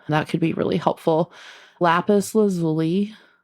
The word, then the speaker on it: lapis lazuli: could be really helpful lapis lazuli lazuli I believe it's how is how it's pronounced it's like a really